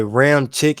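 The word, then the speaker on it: Ramczyk: what up man who that who that say round chick is how you pronounce okay Ram tick okay I got it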